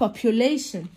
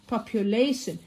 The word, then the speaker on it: population: كثافة سكانية population. population. خلي بالك ان التي والاي والاو ما تنساش ان احنا بننطقها بصوت حرف الشين.